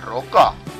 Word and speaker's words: Roca: Quién es esta tal Roca no lo está pronunciando bien más ímpetu en la r roca señor BS Por qué